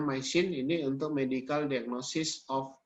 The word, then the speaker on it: MYCIN: Bukan micin ya. Jadi bacanya MySyn, ini untuk medical diagnosis of illness.